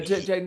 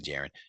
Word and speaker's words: Jaden: saying his name wrong, whatever. But I'm just Oh, telling you, Jaden Jackson. I keep saying Jaren.